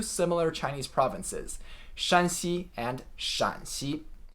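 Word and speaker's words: Shaanxi: Chinese provinces Shanxi and Shaanzi the double a here indicates that it's a third tone shǎn and not a first tone shān 拉丁化新文字 sin wenz or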